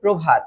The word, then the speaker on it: প্রভাত: প্রো কেন হলো? কারণ জানো র ফলা যুক্ত শব্দ। এটা কি বলতো? এটা হচ্ছে র ফলা। র ফলা যদি আদিতে থাকে তাহলে এটার উচ্চারণ তো ও এর মতই হবে।